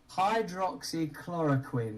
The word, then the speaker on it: hydroxychloroquine: for that long hydroxychloroquine i learned how to say it pretty quickly clora quinn you know think of the guy from uh dexter quinn chlorine hydroxy hydroxy chloraquin